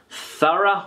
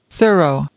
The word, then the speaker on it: thorough: over something in detail thorough or thoroughly Thor is the word is the word Thor and the Americans can pronounce the word like this thorough thorough again thorough but I pronounce the word thorough okay thorough so there